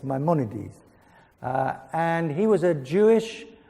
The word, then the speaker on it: Maimonides: So I would have said Maimonides, but apparently for an American, it's Maimonides.